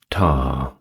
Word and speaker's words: Ptah: next up we have tar that is spelled p a h now Dar was depicted